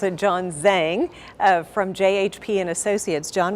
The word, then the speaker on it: Zhang: Actually, I pronounce it John Zhang from JHP and Associates.